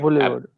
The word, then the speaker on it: boulevard: Boulevard.